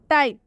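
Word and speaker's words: type: कर रहे हैं बाइक, क्योंकि यहाँ पर ई साइलेंट है। बाइक का हिंदी होता है बाइक। टाइप, टाइप में भी पी के बाद से ई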